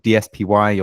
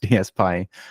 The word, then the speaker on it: DSPy: some people call it dpy or DP or whatever but they they even say in the paper it's pronounced DSP so that's apparently how